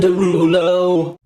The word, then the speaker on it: Derulo: However, she didn't say it right. It's Jason Derulo. Obviously.